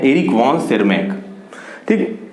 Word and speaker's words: Tschermak: Third जो है Eric von सेरमैक, तो यहाँ पे टी यहाँ पे साइलेंट है, पूरा स्पेलिंग होगा ERICH, Eric, VON वॉन, TSCHERMAK, ठीक है।